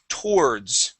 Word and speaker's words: towards: Okay, force your tongue down. We want to say tor. Okay, so let's only pronounce half of the word. Okay, say this with me, please. Tor. Towards. Okay, good. All right, now let's add that D.